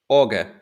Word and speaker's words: Auger: going to go with the very german owen auger pronunciation which is just orga organ right that's this